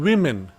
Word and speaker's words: women: The O you pronounce in women. Women, the WO is pronounced as not woo, we. So O is pronounced as E.